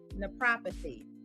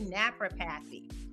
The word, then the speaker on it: naprapathy: I can't tell you how many times people, they look at the word, and I get why they pronounce it this way. They say naprapathy. And it's always funny to hear every time. And I mean, it took me a few years when I first got introduced to the field to really be able to pronounce it. So yes, it is 4 syllables.